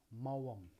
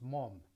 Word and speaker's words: Maugham: Somerset Maugham, okay, pronounced Mom.